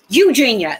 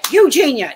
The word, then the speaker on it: Eugenia: Eugenia, that's it. Eugenia.